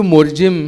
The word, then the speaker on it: Morjim: Because in Konkani and in Portuguese, we don't pronounce the M.